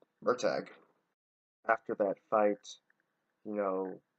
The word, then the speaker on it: Murtagh: Pronunciation, it's Murtagh. And I know I actually thought it was pronounced Murtaugh until I saw that. Yeah, but it's Murtagh.